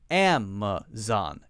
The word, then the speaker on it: Amazon: one Amazon Amazon Amazon notice that this a and the MA are not the same it's not Amazon Amazon they're not the same one is a ah a clear short a sound the other one is more like the schwa son ma ma ma ma that relaxed sound and then zon very clear ah sound Amazon Amazon Amazon Amazon next one